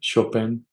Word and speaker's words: Chopin: Chopin? Chopin.